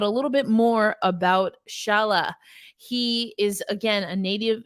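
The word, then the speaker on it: Šalé: other first rounders uh again it's pronounced Shala um so top five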